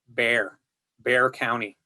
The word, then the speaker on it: Bexar: So if you come to Texas, people literally say Bear County. And it's like, wait, it's got an X in the middle of the word. Like, I mean, isn't that even a glottal stop? It's like, no, it's just Bear County. So yeah, you're right. It's spelled Bexar. And if it was pronounced by people outside of Texas, it would be Bexar County. But in Texas, it is Bear County.